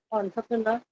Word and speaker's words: entrepreneur: Entrepreneur is not an original English word.